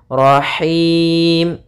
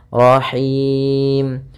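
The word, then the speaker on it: رحيم: ro rnya juga tebal rahim nah hati-hati dalam pelafalan Ha ini ini ha kecil dari tengah tenggorokan kita rahim kemudian di sini ada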